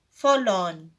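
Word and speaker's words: forlorn: non in this world the letter R is silent so it is pronounced fall on the meaning of difficult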